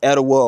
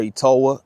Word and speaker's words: Etowah: The pronunciation is variant, so it could be either Etowah or Etowah, I would presume.